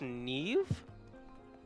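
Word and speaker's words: Niamh: agree to come interesting it's pronounced neive excuse me what culture is that from there isn't a v anywhere in there Irish I can kind of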